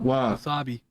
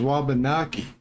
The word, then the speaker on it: Wabanaki: W wasabi. Is that Is that how you say it? Uh, I thought it was wabanaki.